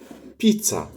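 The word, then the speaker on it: pizza: لكن حرف الزيتا لو ما جاش في أول الكلمة بننطقه تس، كأنه يعني ت وسين في بعض كده، بنطقه تس. زي الكلمة المشهورة الإيطالية جدا اللي هي طبعا كلمة بيتزا، بيتزا، بيتزا، بيتزا. يبقى حرف الزيتا لو جه في الأول بنطقه دز، لو ما جاش في الأول بنطقه تس، يعني كأنه ت والسين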